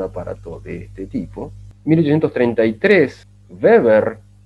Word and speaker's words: Weber: Y Weber, la W en alemán se pronuncia como V corta, Weber, en 1835 es el